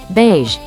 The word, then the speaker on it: beige: The word beige is divided into bai-ge. The vowel team ai makes a long A sound. Read it with me. Bai-ge, beige. Next is fortnightly.